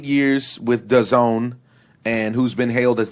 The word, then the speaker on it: DAZN: All right, so outside of the cheesy acronym of a company, it's called DAZN, DAZN, but you're supposed to pronounce it DAZN.